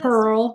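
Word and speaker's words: Terl: the Neo Goth um Terrell. Terrell. How do you say this? Tur. Tur. Tur. Like Turl with a T.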